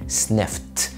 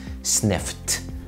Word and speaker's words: sniffed: لو الفعل اخره k زي look في الماضي looked looked، لو الفعل اخره f زي يشم sniff في الماضي sniffed sniffed، لو الفعل اخره sh